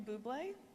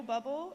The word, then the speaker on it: Bublé: But to Michael Bublé, or Michael Bubble, as John pronounced it, as he read your